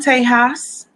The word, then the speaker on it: Tejas: Well, I'm from Tejas. I've lived all over Texas. That's Texas for, that's the Espanol pronunciation.